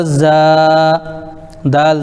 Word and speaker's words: زاد: یعنی ہجے پڑھیں گے۔ زا الف زبر زا، دال زبر دا، زاد۔ الف سے پہلے زبر ہے تو الف مدہ ہو گیا، اس لیے اس کو کھینچیں گے، لیکن دال کے اوپر